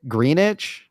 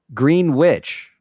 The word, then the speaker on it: Greenwich: what how do you say it greenich where green witch green wi probably Greenwich it's Greenwich Connecticut my bad green witch green witch sounds better if you ask me the W is silent uh so what what